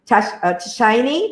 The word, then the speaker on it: Darshini: Darshini, and she calls, her name is pronounced as Shiny because she's grown up in Australia, even though Dashini.